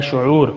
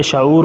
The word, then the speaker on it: شعور: کا خیال کرنا ہے شعور۔ بچے شعور پڑھتے ہیں، یہ غلط ہے، لفظ ہے شعور۔ سمجھ، دانائی، سمجھ بوجھ،